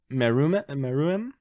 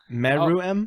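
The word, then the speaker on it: Meruem: one i got um hopefully i pronounced this right it's uh merume meru m oh is that the guy from yeah yeah exactly i think that's how you say his name it's meru m it's a m-e-r-u-e-m so uh he's he's the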